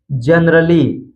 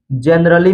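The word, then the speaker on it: generally: silent होता है यानी ए का उच्चारण हम नहीं करते हैं जैसे जैसे जनरली जनरली में आप देख सकते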